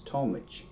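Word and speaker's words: táimid: It's pronounced basically the exact same way, just run together a little bit, and that's talmich.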